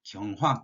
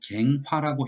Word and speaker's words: 경화: 여기에서 이제 경신, 경화 또는 갱화라고 읽어도 상관없습니다. 경 또는 갱, 어떻게 읽든 상관이 없는데, 이 경화 또는 갱화라고 하는 것은요, 뭔가 새롭게 고치는 걸 얘기를 합니다.